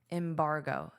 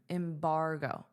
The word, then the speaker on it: embargo: Embargo, embargo. So this is your stress sound, bar.